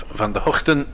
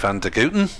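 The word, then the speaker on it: van der Gugten: And uh the debate is the pronunciation will continue as well whether you go for the Dutch version of Vander Hooton or the Aussie version of Vanderuten.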